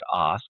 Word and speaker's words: Ask: But right now, if you want to go to, my last name is is pronounced ask, but it's spelled like ask.